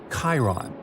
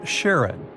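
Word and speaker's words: Charon: And finally, while standing on Pluto, you would see its five moons, Stixs, Nyx, Kerarose, Hydra, and the most mysterious one, Chiron, also pronounced Sharon.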